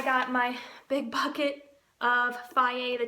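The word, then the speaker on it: Fage: And it tells you pronounced Faye. Yeah, so at first I was like phage, whatever, but Faye.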